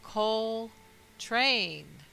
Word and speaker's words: Coltrane: wicked and his last name Coltrane is phonetically coal train Co al train tra